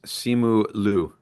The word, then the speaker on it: Simu Liu: Okay, but on IMDb it's listed as Simu Liu. That's what I said. I said that actually. That I pronounced it right then.